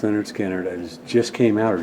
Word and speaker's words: Lynyrd Skynyrd: confederate flag across the stage and of course pronounced leonard skinner that just came out or just coming out